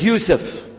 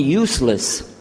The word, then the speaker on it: Yusuf: so I'm gonna go my name is Yousef he say Yousef make sure you sit there very good I wish you teach my wife she keeps mispronouncing it she calls me useless HMDA left now how